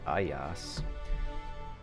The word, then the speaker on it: Ajax: that reminds me of the proper Greek pronunciation of Ajax is actually AOS we have INX